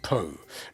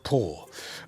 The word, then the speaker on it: Po: It is Po, not Poo, not Paw, because these different pronunciations had different meanings. Po is my name.